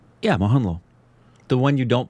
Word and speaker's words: Mohanlal: Mohanlal. Mohanlal. Am I pronouncing it right? Yeah, Mohanlal.